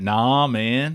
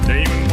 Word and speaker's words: Naaman: Isn't that nah, man? Nah, man. It's Naaman.